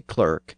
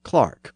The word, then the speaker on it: clerk: some of you say Clerk and some of you say Clark or clock as I noted choser probably said cler and after describing his